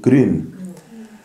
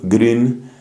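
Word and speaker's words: Grün: alemán llamado anselmo anselm gren que se escribe G ru n la u con diéresis Entonces es esa I alemana anselm gren ha estado predicando aquí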